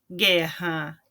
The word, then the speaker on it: guerra: Então, eu não pronuncio o U, né? Mas ele faz com que o G na frente das vogais E e I tem o som de GUI, tá? GUI ou GUE.